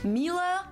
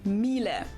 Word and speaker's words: Miele: wrong in English, but English native speakers usually say something like Miele. So it usually sounds more like an A in the end, whereas in German we say Miele.